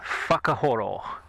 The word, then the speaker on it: Whakahoro: yes, just in case you were wondering, the pronunciation of the name of the other road is Whakahoro.